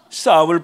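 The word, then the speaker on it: Psalm: 바이든 얼마나 엉터리냐면은 우리가 그 시편을 영어로 PSM 싸움이라고 있는데 나는 가끔가다 팜을 읽죠 그랬습니다. 싸움을 팜이라고. 그러니까 성경의 그 성경의 책의 제목도 틀리게 발음하는 사람이에요.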